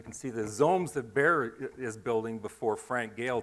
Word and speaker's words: Baer: It's only one syllable. Baer.